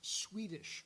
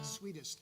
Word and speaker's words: sweetest: um error uh pronounced it's also not she's Swedish when she's naked no it's sweetest and what that refers